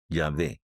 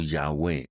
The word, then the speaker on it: Yahweh: en el pueblo hebreo en su fonética indudablemente es yahvé o yahwe en el español pero de esta pronunciación